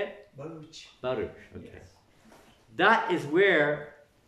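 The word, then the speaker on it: Bharuch: Baruch.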